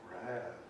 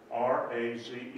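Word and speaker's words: raze: Raz. So, my study's right there. Linda gets, turns on the light, looks it up in the dictionary. R-A-Z-E is pronounced Raz.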